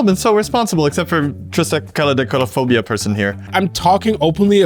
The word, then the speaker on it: Triskaidekaphobia: that 3 mana plus 1 more to cast Triskaidekaphobia. Nice. Nailed it. It's an enchantment. That's exactly how it's pronounced, yes.